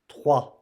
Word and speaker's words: trois: And the R, we have to hear it. So when you say, don't forget the R. R. 3. On prononce 3. J'ai 3 enfants. J'ai 3 enfants.